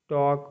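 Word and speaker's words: talk: इसको शुड पढ़ना है टी ए एल के टॉक मतलब बात करना एफ ओ एल के फॉक मतलब लोकगीत एन साइलेंट रहता है एम के बाद आता है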